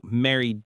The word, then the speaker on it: married: It's just two syllables.